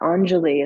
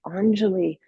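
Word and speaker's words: anjali: Anelie. It's spelled a n j a l i. anali which means to offer.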